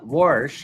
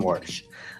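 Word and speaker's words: Warsh: But uh Worsh has been on and and when I say wars, I'm not talking about how your grandfather who was born in the 1930s pronounces the word.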